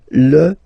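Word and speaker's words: fils: So, it's L and then even if it you've got this L. Well, basically you don't pronounce it and then strangely you pronounce the final S. Lis and then the feminine form the daughter.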